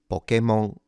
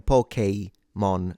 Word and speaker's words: Pokémon: So, let's ditch it for a moment to remind yourself why this is pronounced K and not key. So, Pokemon is incorrect and even pokeymon is incorrect.